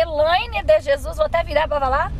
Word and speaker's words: Elaine de Jesus: Isso, como que se pronuncia? Elaine de Jesus.